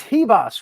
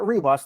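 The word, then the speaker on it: Ribas: up Tracy Cortez Amanda it's he boss right it's not reeboss the r is silent so Amanda hebos uh and this is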